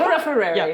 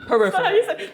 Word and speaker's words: peripherally: Yeah, and by touched - But, it didn’t peripherary. - it didn’t come from nowhere. Peripherary?! - Is that how you say it?! - Peripherally. Thank you.